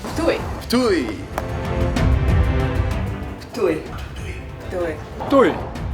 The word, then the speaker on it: Ptuj: think the best way to learn how to pronounce to it is to ask my fellow inhabitants of very easy it's Tooey Tooey Tooey do it durian if you want